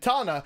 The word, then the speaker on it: Tana: on this item, and Tana, that rhymes with katana, but sounds non-Japanese.